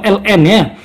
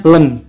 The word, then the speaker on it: ln: integral jadi disini tuh ini bacanya bukan iman atau elne ini bacanya Len Len tuh kayak gitu Soalnya